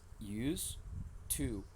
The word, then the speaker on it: used to: is false why yes because is used to it is used to without the sound okay it is not used it is not with D at the end when we have did